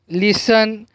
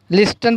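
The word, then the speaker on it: listen: उसके बाद T silent. क्या है, टी साइलेंट। लिसन, लिस्टन पढ़ सकते हैं, अगर टी की आवाज़ लिख लेंगी तो लिस्टन, लेकिन यहाँ पर टी जो साइलेंट है लेटर है इसलिए उसकी आवाज़ नहीं लिख लेंगी।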